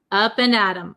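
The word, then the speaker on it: up and at 'em: of the pronunciation uh we say Adam Adam it becomes a flap T so it sounds like a D sound up and Adam up and adom up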